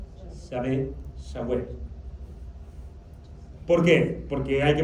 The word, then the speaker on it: Yahweh: Para poder pronunciar YHWH hubo que agregarle vocales. Y entonces YHWH ahora se dice Yahweh.